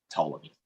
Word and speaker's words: Ptolemy: our colleagues would say ptolemy indeed the p is silent like the g i